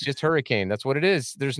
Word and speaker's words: Hurricane: for the hurricane stuff it's not it's just hurricane that's what it is there's no world in which it's possible that it's pronounced hurricane uh but I've said like um I was